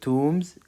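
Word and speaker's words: tombs: تومز مقابر مقابر مقابر وكلمه تومز البي سايلنت لا تنطق ابرود ابرود خارج البلاد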